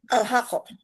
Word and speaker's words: Alhaqah: Alhaqah. Iya iya Alhaqah gitu bacanya.